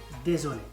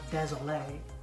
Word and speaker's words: désolé: Pardon, excusez-moi, or excuse-moi, et désolé. And not désolé. Désolé doesn't mean anything. Like désolé. Right. So if you want to sound French, learn, practice your pronunciation.